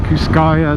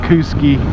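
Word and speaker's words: Kooskia: somewhere around there kooski those idahoans pronounce things funny out there I call it kuscaya they call it kooski I've written some fantastic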